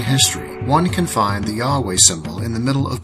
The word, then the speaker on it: YHWH: It is believed that it stands for YHWH, the name of the great architect of the universe, pronounced Yahweh, sometimes pronounced Jehovah, in the ancient Hebrew language from which the Bible was translated.